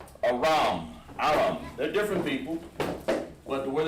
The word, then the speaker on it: Aram: We'll call it Aram. Aram. Or Aram. Aram. It's Aram. But how we pronounce it in Hebrew is spelled like this. With an H and Ra and an M.